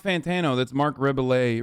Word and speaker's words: Rebillet: Is it Ray-Billet or Rebill It? I don't know how you say his name, but he's dope. That's not Fantano. That's Mark Rebillet. Rebillet.